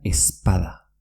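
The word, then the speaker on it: ez bada: Seguimos con la Z y la B, que se convierte en una ZP. Es bada, que quiere decir si no es, se pronuncia espada. Repito, es bada, espada.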